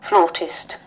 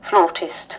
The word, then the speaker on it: flautist: Flautist. Flautist. Anh Mỹ. Flautist. Flautist. Flautist. Ok, một là đọc là flautist, hai đọc là flautist, cũng được luôn. Floor hay flout đều được.